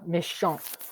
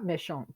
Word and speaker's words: méchante: And we pronounce the T in méchante to show that it's feminine.